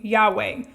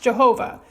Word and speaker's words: Yahweh: to the deity by the divine name Yahweh, formerly mispronounced Jehovah, and the other version of the story would refer to the deity simply as God.